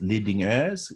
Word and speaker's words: Lidingö: Is Lidingö, it's what it's called. You won't be able to pronounce it because there are two vowels in Swedish that don't exist in English, or right?